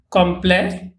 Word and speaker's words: complet: for masculine we use complex T is not pronounced and for feminine we